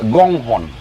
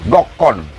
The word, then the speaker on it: Gokhon: Bisa beda penulisan bahasa Batak dengan pengucapan. Tadi dijelaskan Amang Pendeta Siombing, itulah sebenarnya yang sebenarnya Gonghon. Tapi terakhir ini mungkin kita tidak bisa salahkan apa itu percetakan, apa yang punya undangan.